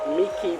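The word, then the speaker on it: Mỹ Khê: We're now at the north part of Miki Beach. I've been told that's how it's pronounced.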